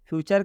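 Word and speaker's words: future: यहाँ पर टी के बाद यू आर ई है, इसलिए टी का उच्चारण च हुआ है। मतलब कि टी यू आर ई को चर पढ़ेंगे।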